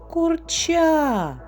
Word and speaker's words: курча: який склад падає наголос слухайте слово курча наголос падає на другий склад в кого правильно молодці